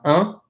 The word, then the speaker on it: important: Look at this word, important. That I-M is pronounced un. Un, port, and look what we have at the end, a T-A-N-T. We already know that A-N or A-N-T already says on. So this is pronounced important. Okay, let's look at O-Ns.